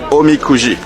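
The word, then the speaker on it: おみくじ: Mon ami m'a dit on dit omikuji.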